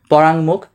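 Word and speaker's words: পরাঙ্মুখ: এটার উচ্চারণ কি হবে এটার উচ্চারণ হবে পরাং মুখ কেন হইছে প্রথমে শব্দ ভাঙ্গ ভাঙলে কি হবে প অন্তস্থকার রা তারপর কি উম এরপর হসন্ত তারপর কি মস্কার মু তারপর খ তাহলে এটা কোথায় আছে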